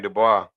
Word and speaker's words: Dubois: Well, in this case, my man Dubois, I mean the Bose, excuse me. I mean, Dubois, I said it right.